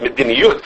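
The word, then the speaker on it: מדיניות: Probably you should pronounce it mediniyut, right? They probably wouldn't say mediniyus.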